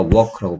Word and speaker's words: walk: 에이 소리 안 나니까 walk라고 발음하시고요.